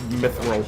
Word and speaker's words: mithril: But I purposely pronounced it like that. I know it's Mithril, but Lord of the Rings and all that.